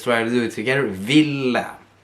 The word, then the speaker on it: ville: to do it together Villa you have a double either a little bit short Villa make sure you pronounce the e at the end so the person you're